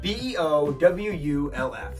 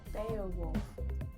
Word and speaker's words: Beowulf: who defeated him beal now i realize that sounds like be a wolf it's spelled b-e-o-w-u-l-f the hero's name is beetle beowulf beowulf baowolf why how